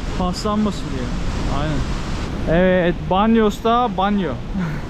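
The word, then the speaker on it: baño: Evet, banyosta banyo. Bak banyonun yazılışı böyle. Şu ne? Ne y diye okunuyor. Banyo.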